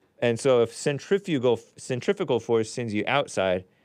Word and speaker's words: centrifugal: the flat earthers explain centrifugal centrifugal force which is which she thinks I believe centrifugal is pronounced centrifugal uh centrifugal force if it's pronounced that way kind of like centrifuge right centrifuge is this thing